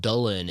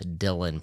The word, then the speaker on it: Dylan: his name is Dylan some people out there might be like it's pronounced dullen in Welsh actually he would correct people that he preferred Dylan pronunciation even in interviews